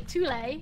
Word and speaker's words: Thule: in the basement, or I should say Thule, because that's how they pronounce it.